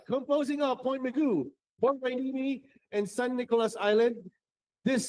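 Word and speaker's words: Port Hueneme: Port Wainimi. Whiny. That's how you say it.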